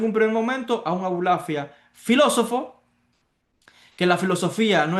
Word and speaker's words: Abulafia: Entonces, esa es la filosofía que llega a Abulafia a través de Maimónides. El mismo apellido de Abulafia, ya lo dice, es un apellido judío, pero es un apellido de pronunciación árabe.